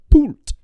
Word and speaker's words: poult: A poult.